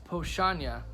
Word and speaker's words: Powstanie: didn't mention so the the pochanya there we go it looks like palestinian that's why it's hard because there's like teas in there and there's a there's an end that's in there but but it looks